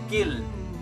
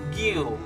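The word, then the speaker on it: guild: Okay, to pronounce this word, it's actually gill. Gill. Okay, most people will say gill or guil. It's wrong. Okay, the U is silent.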